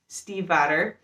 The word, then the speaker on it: Stiefvater: Impossible by Maggie Stiefvater.